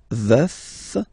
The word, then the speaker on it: veuf: Je suis veuf, veuf, so remember to pronounce the final F, veuf.